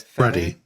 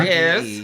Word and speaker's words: Fede: But Freddie. Freddie? There's no There's no Freddie R in Alvarez. it. There's no R. It's Ah. Yeah, there F-E-D-E.